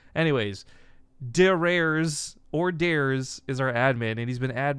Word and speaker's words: Dares: if you guys don't know who dares is d a r e s his name look no r s his name